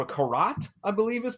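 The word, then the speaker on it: garrote: All right, this happens the next day, and Jeff appears, and he's got himself I don't know what it's called, a karat, I believe is pronounced.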